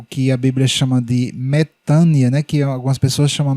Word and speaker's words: metanoia: É isso que significa a palavra metânia, ou como alguns pronunciam, metanoia, certo?